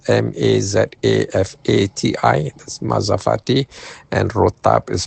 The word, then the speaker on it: mazafati: Mazafati is spelled m a z a f a t i.